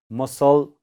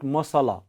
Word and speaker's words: muscle: Muscle or sound. Okay, muscle, muscle, muscle. Okay, muscle. All of you pronounce it muscle, not masala.